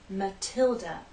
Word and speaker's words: Matilda: in stress watch this this name is Matilda stress on the second syllable Matilda the t is stressed so we have a true T sound Matilda in this name